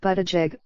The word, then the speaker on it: Buttigieg: In an email to potential supporters, Mr. Buttigieg, he pronounces it Buttigieg, said he was forming